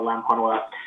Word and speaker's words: Lampanoa: sir yes yes and you got my name uh correct it's very phonetic uh lampanoa um yes uh explored